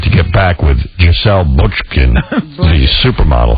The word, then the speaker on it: Bündchen: But if I read one more story about Leonardo DiCaprio has decided to get back with Giselle Bündchen, the supermodel. How do you say that? Bündchen.